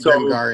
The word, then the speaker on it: Grimgar: It's with a G. And I could have sworn I read it with a fucking J. A J. Maybe they switched in a J at some point, but they definitely pronounce it Grimgar in the show.